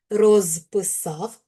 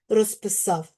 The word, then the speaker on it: розписав: Коли ми говоримо повільно розписав, то у нас оглушення не відбувається. А ось коли говоримо в швидкому темпі розписав, то відбувається оглушення. Глухі перед дзвінкими у подібному